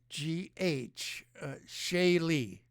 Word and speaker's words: Shaylee: It's spelled Sheileigh. Shaylee. All right. I think it's an Irish name, and her last name is Voidal.